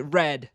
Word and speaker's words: read: And the past tense is spelled exactly the same, but you pronounce it differently. You pronounce it red, like the color red.